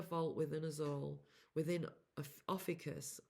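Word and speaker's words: Ophiuchus: within us all within Officus. However people say officus differently. This is how I say it. This is how um I've learned how to say it.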